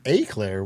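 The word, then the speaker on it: éclair: At worst, it's an aclair, which is apparently another acceptable pronunciation.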